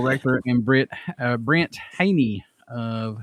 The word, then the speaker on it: Hajny: got uh brandel wrecker and brit uh brent haney of silent horn i hope i said your